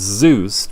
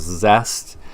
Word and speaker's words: Zuest: Zuest, I know it looks like it's Zuest, but according to friend of the show Colin Best and local councillor, it's pronounced Zest.